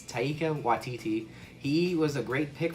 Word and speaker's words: Taika Waititi: We're trying new things, and the director, which I know I'm going to mispronounce, it's Taika Waititi.